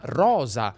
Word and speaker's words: rosa: Guarda che la pronuncia neutra tradizionale fa delle distinzioni. S in alcune parole e S in altre. Inglese ma francese, cosa ma rosa.